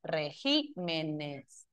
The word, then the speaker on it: regímenes: Cuadríceps, regímenes, perdón, regimen, no, regimen. Acá régimen y acá sería el acento en que corre en regímenes.